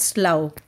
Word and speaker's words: slough: swamp plants or Slough s-l-o-u-g-h is pronounced as slow a thin wet sky